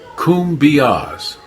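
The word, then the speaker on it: cumbias: way to El Salvador kumas is pronounced kumas the Kumbia is a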